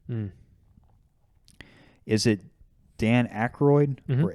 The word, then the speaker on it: Aykroyd: It also has the guy whose name I'm never sure if I'm pronouncing correctly. Mm. Is it Dan Aykroyd Mhm. or Aykroyd? Aykroyd. Aykroyd.